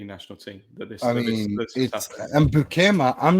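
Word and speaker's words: Beukema: to pronounce his name, but Bukema, as you're supposed to pronounce Dutch name, is I think he's a Conte defender, and I think he's going to do really well.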